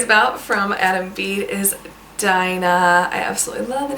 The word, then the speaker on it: Dinah: The next name that I want to talk to you guys about from Adam Bede is Dinah.